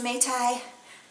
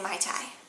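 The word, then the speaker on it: mei tai: use the terms interchangeably I think that it's officially pronounced mate I but a lot of people say my time yeah we'll go with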